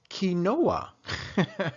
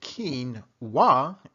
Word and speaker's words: quinoa: heard of it or maybe just maybe you pronounce it ki Noah right well whatever the case may be please